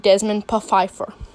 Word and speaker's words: Desmond Pfeiffer: Us and DiResta was The Secret Life of Desmond Pfeiffer. And yes, that was how it was supposed to be pronounced.